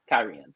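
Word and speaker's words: Cairhien: and talking to people oh kyrian oh well that does sound classier so I started using it and you listen to the audiobooks that's how they pronounce it too kyrian so I'm like I'm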